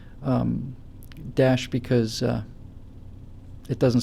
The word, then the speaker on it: Daesh: like um uh extremists have hijacked uh it's pronounced Dash thanks guys uh you know um extremists have